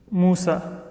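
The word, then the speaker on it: موسى: For example, the word ala, or the word Musa. Right? It's written as a ya, but it's called an alif in Arabic.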